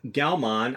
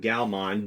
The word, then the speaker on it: Gaomon: on the channel and galman I think that's how you pronounce it galman g a o m o n or Gan galman